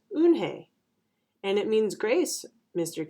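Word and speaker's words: Unhei: turning around it was Joey your name is Unni he asked her with his eyes wide open Hey look quickly at mr. Kim and then turned to Joey she nodded slowly yes it's pronounced une Hey and it means grace mr.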